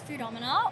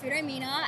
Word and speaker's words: Foodomina: Well, the name of our game is Futama or Fomina as a lot of people mispronounce, but honestly, I think it sounds a bit better.